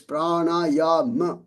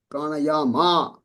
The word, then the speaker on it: prana: Now this one is not a bar on top. So it's prana. It's not prana. It's prana.